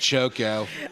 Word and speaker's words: Choco: well I give him Moco and chog so moo and CH moo and CH this slight mispronunciation MOG and choco I also gave him